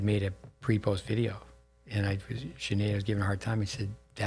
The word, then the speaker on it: Sinead: Say that right? Sinead. Sinead. You say that's it. That's a better pronunciation.